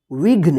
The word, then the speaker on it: विघ्न: का तो घ न इसको क्या पढ़ेंगे विघ्न इसको विघी विघ्न घ प देखिए जल्दी उच्चारण हो रहा है ना क्योंकि ये आधा